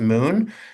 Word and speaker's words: MXXN: Like he was sharing the panel with Moon. Uh it's spelled MXXN, but it's pronounced Moon.